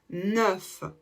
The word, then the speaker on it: neuf: pour faire la liaison le F va se prononcer comme un V donc on dira neu